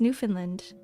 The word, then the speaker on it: Newfoundland: No, it's Newfoundland, like Newfoundland. But we pronounce it as Newfoundland.